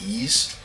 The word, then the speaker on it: Ys: think it'd be likewise three but it's apparently pronounced eise wanders from east three already have this on